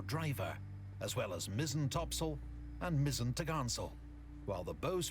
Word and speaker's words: topsail: included the four course four top sale pronounced topsail and four top gallant sale